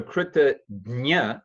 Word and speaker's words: kritajna: So kritagnya, that jna is like you may have seen the word prajna or jnana. Sometimes people in India will pronounce it gyan, pragya.